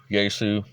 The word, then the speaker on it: Yaesu: then three japanese firms yaesu that's spelled y a e s u yeesu kenwood and icom kenwood